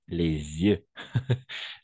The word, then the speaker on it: les yeux: Ici, par exemple, il n'y a pas de liaison. On va prononcer les jeux vidéo, les jeux des sociétés, les jeux. Et ici, on va faire la liaison, les yeux.